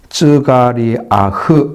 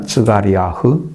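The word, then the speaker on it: זכריה: 그러면 쯔가리아흐 이렇게 읽습니다. 쯔가리아흐. 그것을 우리나라 말로 스가랴라고 읽는 거죠. 완전히 줄여가지고.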